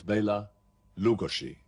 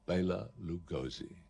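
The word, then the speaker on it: Bela Lugosi: actor his name was Bela lugoshi now that's the correct way of pronouncing it but that was probably a little bit too much for people to take and so he became immortalized under the name of Baylor Lugosi he made his name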